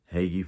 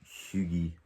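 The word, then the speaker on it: hygge: hague the hagie book haggy for the english people shugi for those who know the proper pronunciation it's strange how you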